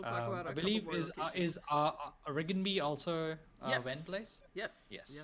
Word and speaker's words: Rigenby: And I mean, it is colorful enough to be named RGNB, but it's supposed to be pronounced Rigenby.